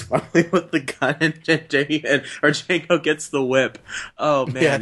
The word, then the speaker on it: Django: It's like, and that one hillbilly is like, "Django, Django." It's like the D is silent hillbilly, and shoots him in the head.